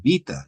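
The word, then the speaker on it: βῆτα: Por ejemplo, en el griego moderno es vita el nombre de la de la letra, pero tal vez yo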